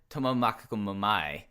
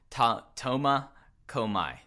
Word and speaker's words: Tomakomai: Of one, Takuya Tomomakomai. I mispronounced that wrong. Tomakomai.